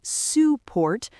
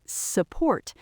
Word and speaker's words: support: We do not say support, we say support.